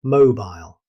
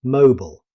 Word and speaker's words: mobile: In British English, it is pronounced as mobile. Notice the final sound, mobile. This differs from the common American pronunciation, which is mobile, Worcestershire.